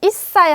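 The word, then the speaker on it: 一歳: 자, 이사이 하고 한 살은 이사이라고 합니다. 조그맣게 츠가 들어갔죠. 그래서 이거는 똑같이 그냥 시옷 받침 쓰시면 돼요.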